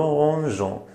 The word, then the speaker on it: rangeons: Pour ne pas prononcer gant. On dit nous rangeons. Si on n'écrit pas E, on prononce nos mangues parce que j'ai le garage, j'ai avec quoi se prononce go, mais j'ai avec quoi se prononce je.